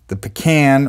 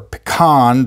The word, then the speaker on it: pecan: This one, which is the pecan or pecan, depending on where you live for how you pronounce it.